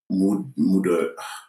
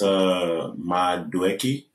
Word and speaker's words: Madueke: But Marcus Thuram, out of the three options, I don't know Noni Mudryk. Butchering this man's name. No. Is that how you say his name? I don't know. Mudryk? No, it's Madueke.